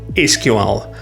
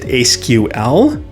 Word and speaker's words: SQL: Let's start with the big one, SQL. How do you pronounce it? Is it SQL or SQL? Here's the answer that might surprise you. Both are correct.